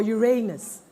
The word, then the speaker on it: Uranus: Uranus. Or Uranus. That's how we want to pronounce it.